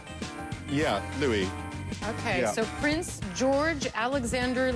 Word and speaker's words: Louis: at this point I so it's pronounced Louie and not Louis yeah Louie okay so Prince George